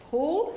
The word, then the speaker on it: Pahl: John Paul although the name is spelt like pal but it's pronounced Paul so I've learned that tonight and professor Douglas Pratt and dr.